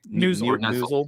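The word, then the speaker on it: Neuzil: Is it Ryan Neasel? That's how you say his name? Newsel.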